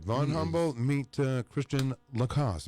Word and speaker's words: Christian Lacosse: right von Humboldt meet Christiane Lacoste am I saying your name right yes okay really you're the first person to say it right oh well thank you